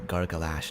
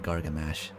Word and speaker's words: Gorggalash: Oh, you mispronounced his name, by the way. It's uh Gorggalash, not Gorggamash.